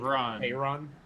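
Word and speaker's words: Faerûn: I've always said it wrong. And I know it. Faerun. Yeah, I've always done run, and I knew early access.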